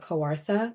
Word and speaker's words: Kawartha: He's currently the executive director of Camp Kawartha. Did I pronounce that right, Jacob? Yeah, you did. Kawartha.